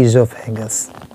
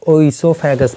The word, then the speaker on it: oesophagus: अच्छा, कुछ लोग देखोगे इसको ओइसोफेगस पढ़ते हैं। तो एक चीज़ जानते रहो कि बायोलॉजी में जहाँ भी ओ ई से स्पेलिंग शुरुआत होती है उसका प्रोनाउंसिएशन हम लोग ई करते हैं, है ना।